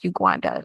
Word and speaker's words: Uguanda: hard uh for a lot of people to pronounce my first name but I am not opposed to being called Uganda which is my given name and um yeah